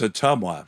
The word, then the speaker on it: Ottumwa: It's Ottumwa. How would you spell that?